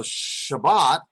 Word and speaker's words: Shabbat: is Shabbat the Sabbath so Shabbat is spelled Shin rock which makes a sha sound not Schaal remember if that were comets that would be an all sound so it makes a shorter a sound or Shiraz now and